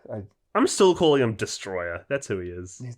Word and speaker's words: Destoroyah: It is Destoroyah.